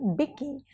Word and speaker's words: Vicky: But as Vicky, pronounced Bicky, Rajkummar brings to the fore his vulnerability and charm.